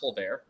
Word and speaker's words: Tolbert: And Jalen, is it actually pronounced Tolbert? Yeah, that blew my mind.